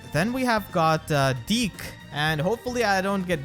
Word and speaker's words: Dieck: we have got uh deke and hopefully i don't get demonetized for saying his name i'm gonna try to pronounce it like zeke from shadows of valencia